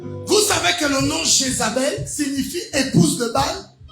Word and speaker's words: Jézabel: Vous savez que le nom Jézabel signifie épouse de Baal. En fait, la bonne prononciation, c'est Jézabal, qui veut dire épouse de Baal.